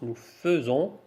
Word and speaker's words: faisons: il fait nous faisons ça se prononce nous faisons vous faites ils font